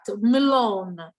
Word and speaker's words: Malone: get it for learning with that e will be cut malone with the i will be pronounced maloney um let's see